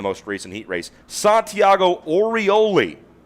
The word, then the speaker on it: Orioli: Santiago Orioli. That's Orioli. Make sure I get that pronunciation right.